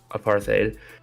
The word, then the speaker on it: apartheid: Anywho, also in 1977, South African anti-apartheid active or messed up the pronunciation again. Apartheid activist Steve Biko is arrested at a roadblock.